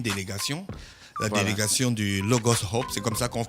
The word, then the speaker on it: Logos Hope: délégation du Logos Hope, c'est comme ça qu'on se prononce, non? Logos Hope, yes.